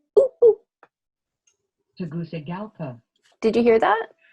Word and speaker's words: Tegucigalpa: Tegucigalpa. Did you hear that? So it isn't a soft Tegucigalpa. That's much easier to say. Tegucigalpa. Tegucigalpa. Tegucigalpa. Tegucigalpa. It's a goosey place, not a Gucci place or a gookie place.